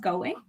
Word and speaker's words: Going: your last name so is it is it pronounced going yeah yeah i quite like it